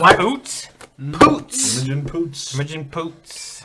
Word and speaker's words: Poots: It's pronounced What? Poots.